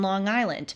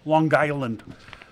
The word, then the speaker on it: Long Island: be careful and uh I think it's pronounced Long Island they like they run it together sometimes I really wonder